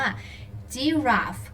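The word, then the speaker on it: giraffe: นั่น เอง นะ คะ ยีราฟ ใน ภาษา อังกฤษ เขา ออก เสียง ว่า จิ รา ฟ จี รา ฟ นะ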